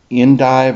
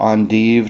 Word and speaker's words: endive: The wild version is the cousin to the endive or endive, depending on how you want to pronounce it.